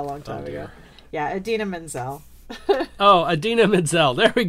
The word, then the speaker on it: Idina Menzel: Idiana Menzel?